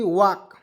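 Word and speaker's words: walk: डब्लू ए एल की वाक वाक ठीक है वाल्क नहीं पढ़ेंगे वक पढ़ेंगे ठीक है क्योंकि इसमें एल को हमने साइलेंट कर दिया दोस्तों वक वाक मीस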